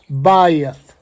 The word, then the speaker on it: Beth: Uh, it's spelled BE T, but it's actually pronounced Bayith.